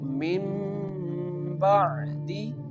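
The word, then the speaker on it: مِنْ بَعْدِ: pronounce this letter like Mim Ba'di, Mim Ba'di. The Noon sound change into the Mim sound.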